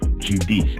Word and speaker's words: Judice: supremacy our guests uh Northwestern University Professor Cheryl Giudice am I pronouncing your name correctly yes you are all